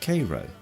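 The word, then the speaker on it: Cairo: passed through a town spelled like Caro but pronounced Koo Riverport at the junction of the Ohio and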